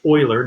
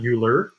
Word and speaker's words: Euler: is e which is euler's number remember it's pronounced euler not euler and that was equivalent to the limit as